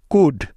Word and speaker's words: could: এল এর পরে ডি, এফ, কে, এম এই চারটি লেটারের যে কোনো একটি থাকলে ওই এলটা সাইলেন্ট হয়ে যাবে। যেমন ডি এর আগে এল সাইলেন্টের উদাহরণ। যেমন কুড, COULD, কুড।